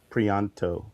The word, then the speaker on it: Prianto: Matt Banning, Sal Regla, John Livesay, and then colors by Arif Prianto. Prianto. Yeah, Prianto, I believe is how you say that.